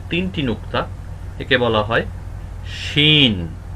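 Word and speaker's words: شين: নুক্তা একে বলা হয় শিন শিন শিন শিন একটু মোটা হবে সিন থেকে একটু মোটা হবে শিন শিন কেউ যদি বাংলার সাথে তুলনা করতে চান তাহলে তালব্য স এর মত উচ্চারণ হবে শিন শিন শিন শিন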